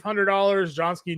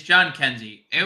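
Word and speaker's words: Jhonkensy: Johnsky Noel, John Heskey, however we decided we were going to pronounce that there. John Kenzie. Last night. It's John Kenzie.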